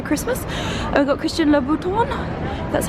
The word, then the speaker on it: Louboutin: And we've got Christian Louboutin, that's how you pronounce it.